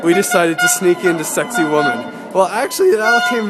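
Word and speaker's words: Sacsayhuamán: site called sexy woman sexy woman is not spelled like sexy woman as you'll see in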